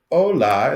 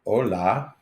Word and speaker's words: hola: so you got your Ola in the H is silent yeah and then you have your Ola the H is silent um I was going